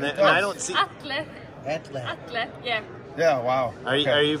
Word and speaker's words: Atle: How do you pronounce it? It's called Atle. Okay, which is nail puller, Swedish for nail puller. Yeah, let's just say nail puller. It says right on it. A-T-L-E, that's what it's called.